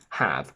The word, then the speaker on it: have: exceptions is have that contains the e at the end which is silent but it doesn't elongate the sound so we say have with a short quacky